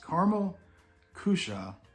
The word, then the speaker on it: Karamell-Küche: like those so we'll see yes it is caramel cusha and Epcot is where you can find these